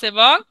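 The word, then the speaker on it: へ: হবে এ হে হ্যাঁ আমরা বর্ণ হিসেবে এটাকে হে পড়েছি কিন্তু এর উচ্চারণ হবে এ ঠিক আছে এই হে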